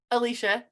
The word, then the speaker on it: Alicia: about the chosen so alicia i feel like i'm saying your name wrong no you're saying it right okay i just in